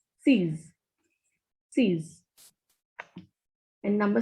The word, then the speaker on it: six: Pronunciation of X is Z in French. So this is sees.